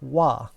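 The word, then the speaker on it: は: And in Japanese grammar, using the letter ha, which is not pronounced ha in this case, it's pronounced wa, is how you tell someone, this is what the sentence is about.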